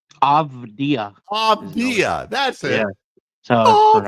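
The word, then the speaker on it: Avdija: Is it Ajiva? Avdia. Avdia. That's it. Yeah. So it's pronounced Avdia very, very Eastern European.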